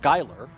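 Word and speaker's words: Schuyler: Uh, and it's spelled with the SC, but it's pronounced Skyler.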